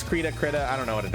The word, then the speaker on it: Krita: I don't know how to pronounce that app. It's Krita.